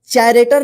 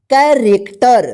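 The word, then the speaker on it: character: आर इसको क्या पढ़ेंगे चरेक्टर नहीं पढ़ेंगे क्या पढ़ेंगे इसको कैरेक्टर ध्यान रखिएगा कैरेक्टर चरेक्टर नहीं कैरेक्टर ठीक यहां पे देखिए सीच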